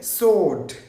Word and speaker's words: sword: මේක මේ w අකුර silent. ඒක pronounce වෙන්නේ නැහැ. අපි කියන්නේ sword.